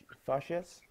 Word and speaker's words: fazes: Eu o que fazes? O que fazes? Ah, o que fazes? You pronounce it like a Z. Z. Fazes. Can do it like this. Fazes. No, not zhush. Z. With a Z.